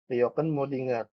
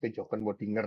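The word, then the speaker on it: kjökkenmöddinger: Pertama, adanya kejoken kejoken Modinger. Atau bacanya biasa biar gampang ingat kejoken Modinger ya.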